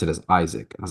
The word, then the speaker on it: Ishak: is hat and he said no it's I pronounce it as Isaac I was like come on man no well